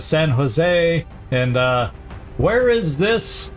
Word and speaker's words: San Jose: But you know all the ways I used to pronounce San Josie instead of San Jose.